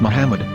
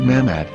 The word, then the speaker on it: Muhammad: Ben yehuda's Hebrew English dictionary it is correctly pronounced as Muhammad not mahmet so how we're going to know for sure